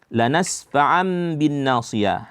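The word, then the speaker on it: لَنَسْفَعًا بِالنَّاصِيَةِ: Lanasfa'am bin nasiyah. Di sini ada tanwin berjumpa dengan ba, itu hukumnya iqlab. Nah, dibaca lanasfa'am bin nasiyah.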